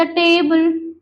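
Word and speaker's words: tabla: యూస్ the next the టేబుల్ sorry the టాబ్ల టాబుల నాట్ టేబుల్ టాబ్ల okay టాబ్ల ఇస్ ఏ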